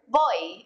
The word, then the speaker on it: voy: bit on the pronunciation in Spanish v's and B's sound a lot alike and they're pretty much just a mixture of the two letters after voy you're going